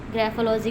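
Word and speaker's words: graphology: ग्राफोलॉजी, देखो ना, यहाँ पी लिखा है और यहाँ एफ बन रहा है, यही तो इंग्लिश है।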